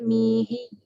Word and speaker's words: منهي: Itu bacanya mihi. An syaikhina al-mihi dzil kamali. عن شيخنا المنهي ذي الكمال. Boleh baca maihi boleh. Tapi yang betulnya mihi.